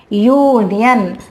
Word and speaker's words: union: Here when we pronounce it, the pronunciation is European, union. That means the pronunciation is Y. U sound.